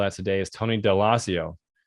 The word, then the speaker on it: Daloisio: And a great example of that today is Tony Daloisio. Did I say it right? Daloisio. I got it wrong.